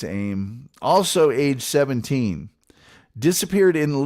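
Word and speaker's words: Aime: On October 31st, yeah, that's Halloween to you and me, Laura Ann Aim, I guess some could pronounce it Amy, but I think it's Aim, also age 17, disappeared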